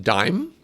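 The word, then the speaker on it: Daim: chocolate bar it looks like this oh it's pronounced dime hmm is it too tall should I flatten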